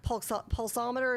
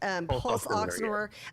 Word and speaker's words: pulse oximeter: Well, and when you talk about that, the pulsometer, is that how you say it? Pulse oximeter.